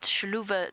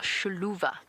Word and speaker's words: Xiluva: v a sha so the sh sound I'm not pronouncing it 100% correctly but the x is a sound in the local language and as I said